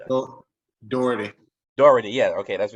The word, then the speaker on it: Doherty: Am I pronouncing that? Doherty.